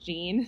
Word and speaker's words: Jean: She also smoked marijuana that night, but Jean, her name looks like it's spelled Jean. Mm-hmm. It's Jeanne, but she pronounces it Jean because she's bougie. Yeah.